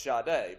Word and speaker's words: Sade: I mean, maybe when you're young, right, and you see it, you say, is that pronounced Sade, like Jade? And then you get told, well, no, it's Sade, because that's what she said.